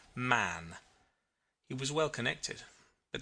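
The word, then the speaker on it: Mahon: He had a Roman nose, a snow white long beard, and his name was Mahan, but he insisted that it should be pronounced man.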